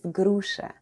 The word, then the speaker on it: груша: A pear is груша in Russian. Груша. Груша. Let's spell the word груша. The first sound is G, then we have R, then goes U, Sh, and A. And all together it's груша.